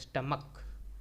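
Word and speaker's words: stomach: नहीं ऐड किया क्यों क्योंकि इसका उच्चारण हम लोग क की तरह कर रहे हैं स्टमक स्टमक पेट इसका उच्चारण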